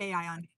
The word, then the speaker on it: Aion: Because I've heard people say aon and then I read it as ion. How do you say it? Aion. A aion. Okay. Yeah. So, I mean, basically, you're just saying a I on you smash it all together.